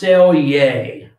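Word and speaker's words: selge: This is pronounced selje.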